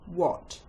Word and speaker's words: what: The first set of words that have a silent H are the question hand words when, which, why, where, and what.